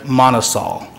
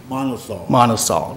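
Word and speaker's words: MonoSol: of Japan we are a wholly owned subsidiary Manas all Manas all right M o n o capital s o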